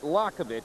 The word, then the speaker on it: Liakhovich: Friday aunan against Sergey lakovic and we're just going to pronounce it Lovich because his manager asked us to just stick with Lovich uh you can see